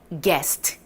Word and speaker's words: guest: guest. 좋아요? guest. 마지막 guest. 비슷하게 생겼네요. 이번에도 you가 없다라고 생각하고 읽어주시면 편안합니다. 같이 한번 가보도록 할까요?